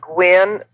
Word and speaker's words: Gwyn: Well, in 1969, I started Gwen Publishing. That's spelled GWYN.